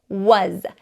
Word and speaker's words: was: an uh W uh this is an S but it sounds like a z w z was you might need to